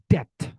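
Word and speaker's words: debt: Semua B yang ada di sini tidak dibaca.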